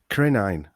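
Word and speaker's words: krinein: But the word crisis in Greek or Latin comes from the word, I'm going to try and pronounce this, krenein, spelled K-R-I-N-E-I-N.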